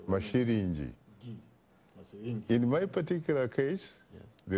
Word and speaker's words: Masilingi: I would say Masilingi. Pronounce it correctly. Masilingi.